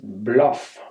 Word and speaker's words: Bao Loc: Only it seems to have been pronounced Bluff or something like that. In my diary that I kept on that trip, I spelled the name of the town B-L-O-U-G-H. That's not how it's spelled. It's spelled B-A-O-L-O-C. So I have no guess how it's really pronounced in Vietnamese.